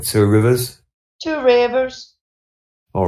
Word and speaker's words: Two Rivers: You are going into Two Rivers, I think. Yes. I'm pronouncing that wrong, I know. It's more like Two Rivers.